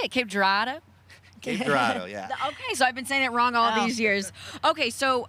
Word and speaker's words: Cape Girardeau: Cape Girardeau?